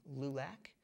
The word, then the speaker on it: LULAC: experience in there's also LULAC which is the support for Latin American folks spell that L ul AC okay just like it sounds hmm and they're very